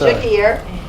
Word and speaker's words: Gegear: I want to say it right. That's Gegear. It's been butchered before.